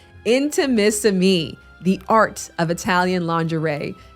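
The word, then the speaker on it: Intimissimi: and delicate lace but the name can be a little challenging to pronounce inter intimacy inter Mississippi I no it is intimacy me the art of Italian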